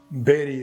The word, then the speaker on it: bury: very not bury or beauty or body simply Berry remember this one next one d-e-n-g-e-e it is